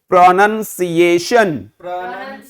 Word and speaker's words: pronunciation: तो प्रोनन बोलिए. सीए शन. प्रोनंसिएशन.